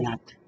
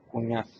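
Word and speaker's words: Cuñat: Seu sobrenome do meio, como é que pronuncia? Cunhat. Cunhat. É nome valenciano.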